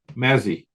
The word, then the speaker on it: Mazzie: my pleasure and a privilege to welcome Mazzy am I pronouncing your name correctly yeah well done